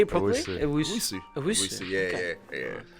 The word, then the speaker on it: Owusu: Owusu.